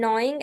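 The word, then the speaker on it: gnawing: ठीक है, ग्रॉलिंग एंड नॉइंग एट the stones like a dog with bones. ठीक है, इसकी प्रोनाउंसिएशन नॉइंग है, जी इज साइलेंट।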